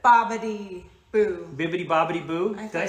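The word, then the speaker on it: Bibbidi-Bobbidi-Boo: Bibbity bobbity boo. Did I say it wrong? I thought you said bippity, boppity.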